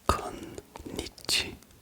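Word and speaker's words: こんにちは: En fait, il y a 2 N. C'est bien konnichiwa. Et la plupart des gens, bon, la plupart des gens ne le connaissent pas, mais le prononcent un peu trop rapidement en sautant le premier N.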